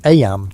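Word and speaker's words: Eyam: Aam, you know, is pronounced just like em.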